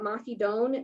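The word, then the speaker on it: Mahidol: this program is at mahidone university so the l is pronounced like an n in their language um and it's actually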